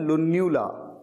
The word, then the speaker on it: lunula: होता है, half circle, इसे कहा जाता है लुन्यूला, LUNULA। और इसकी प्रोनाउंसिएशन आप याद कर लीजिए, लुन्यूला, लुन्यूला।